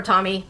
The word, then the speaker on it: Tomy: Takara Tomy, or Tommy, I'm just gonna say Tomy, the way that Japanese syllables are cut.